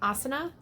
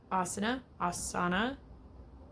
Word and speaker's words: Asana: Another really great tool is Asana. I can never figure out how they pronounce it.